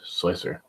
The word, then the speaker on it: Slic3r: do know it is not pronounced slic3r but slicer the man behind the creation of slicer Senate so stinks would stings it is slicer he pronounces it slicer it is to be pronounced slicer also I sir stinks yeah I I very